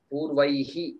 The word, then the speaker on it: पूर्वैः: Yeah, the way to pronounce that is purvaihi. So there are two dots there.